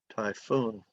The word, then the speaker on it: typhoon: like f typhoon typhoon typhoon two syllables accent on the second syllable typhoon here we go okay